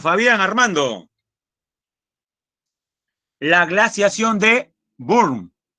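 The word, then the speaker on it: Würm: armando la glaciación de burn recuerde que los alemanes es término alemán a la w la pronuncia como si fuera v recuerde el término volkswagen no nadie dice volkswagen no la glaciación de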